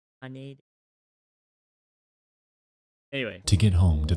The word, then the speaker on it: Haneda: I hate how it's pronounced Haneda. Like, sorry, the person in the Boeing video, same way. It's just Haneda.